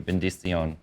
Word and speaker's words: benedición: Benedición.